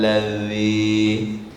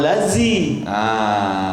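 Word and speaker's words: الذي: Jadi membacanya siratal ladzi. Jangan siratal lazi. Ya. Apalagi siratal laji. Ya. Jadi kalau siratal lazi itu huruf apa? Huruf zai. Huruf Z, bahasa Indonesianya huruf Z. Jadi yang dikehendaki dengan zal ini ujung lidah ke ujung gigi di atasnya.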